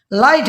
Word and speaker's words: light: लाइट में एल आई टी बोल दिया, लाइट, जी एच को साइलेंट क्यों बोल कर दिया, क्योंकि वावल